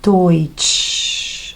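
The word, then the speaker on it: Deutsch: La grafía de EU. Siempre, siempre, y eso es lo bueno. H, vamos a leerlo como o i toich.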